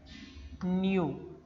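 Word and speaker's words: ν: This letter is pronounced as nu, which is the expression for the frequency.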